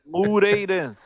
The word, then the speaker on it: Moreirense: Moreirense. Moreirense. Okay, I See? try to make it a Look, two-syllable word, but it's a it's three-syllable a three.